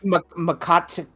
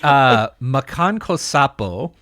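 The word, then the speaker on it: Makankosappo: Isn't it like Makaka-san or something? It's oh god, anybody who knows how to pronounce Japanese is gonna be like, stop it. It's Makan Kosapo.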